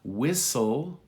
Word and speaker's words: whistle: Whistle, no T.